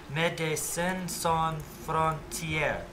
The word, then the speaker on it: Médecins Sans Frontières: Médecins sans frontières. All French words with the accent of the final syllable.